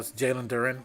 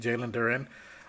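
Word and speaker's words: Jalen Duren: Uh Jaylen Duran or whatever you however you want to pronounce it. Jaylen Duren.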